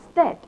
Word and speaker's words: stead: common than others, but EA is not always E. And an example is STEAK, a slice of meat which is pronounced a steak, and STEAD, which is also pronounced differently as stead.